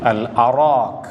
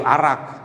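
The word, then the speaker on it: الأراك: Orang Arab biasa menggunakan alif lam alif al-arak. Kayu al-arak. Jika kita tulis perkataan arak dengan tulisan Rumi, boleh jadi orang tersilap dalam membacanya dikata kayu arak. Arak ini minuman keras.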